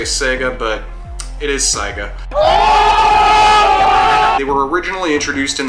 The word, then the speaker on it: Saiga: hear some people say Sega but it is Saga you were originally introduced in the 70s in